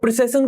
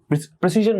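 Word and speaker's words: precision: अब प्रिसिशन को समझो, प्रिसिशन क्या होता है, प्रिसिशन क्या होता है, अगर मैं बात करता हूं इसका करेक्ट प्रोनाउंसिएशन क्या है, प्रिसीजन बोला जाता है इसको, प्रिसीजन।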